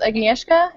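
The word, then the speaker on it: Agnieszka: I was I was give me the name pronunciations aneska and and and okay Kasha Kasha okay aneska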